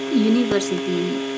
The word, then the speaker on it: university: Use a if a word that begins with U has a U sound. Okay, so in this use of a, we have U sound. and so it's not vocal, yeah, but consonant. So university, we pronounce it as university, not university, yeah, university.